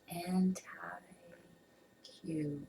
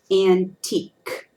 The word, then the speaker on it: antique: tricky I know ant anti Q an I would definitely say antiq or antiqua or something like that so we say that word antique antique yeah now if we